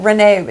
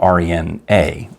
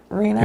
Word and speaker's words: Rena: She put that people think it's spelled R-E-N-E-E, right, which is actually spelled R-E-N-A, right, with a long A. So that's the way I interpreted it, as opposed to Rena. Rena?